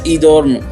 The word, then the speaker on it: Edom: The name Edom is pronounced as Edorm, which means my kind of person.